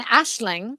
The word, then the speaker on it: Aislinn: means dream or vision and then ashling which is how you would say my name in irish it's an irish name and the phonetics don't match the the the letters in in anglo uh dialect but a nationaling is